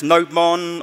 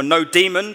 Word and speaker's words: nodemon: I've got a couple of little projects, NodeMon or Nodemon or NodeDemon, depending on how you want to pronounce it.